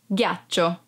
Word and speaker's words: ghiaccio: Ghiaccio, ice. Be careful because if you don't pronounce G as an hard sound like G, it would be giaccio, that it's a verb and means lie down.